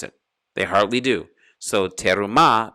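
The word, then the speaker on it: תְּרוּמָה: they hardly do so terumah becomes truma because they hardly pronounce it at all true ma but it's really you have to go real quick and pronounce the first e under the letter tab to make terumah but it's hardly pronounced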